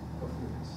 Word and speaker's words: Ophiuchus: I don't know how to pronounce that, Ophiuchus. Ophiuchus. Ophiuchus, thank you.